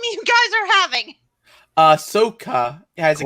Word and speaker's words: Ahsoka: problem what i am there's an h in there that i'm not pronouncing yeah there's an h it's spelled a h a-h-s-s-o-k-a uh soca okay asakutano let's do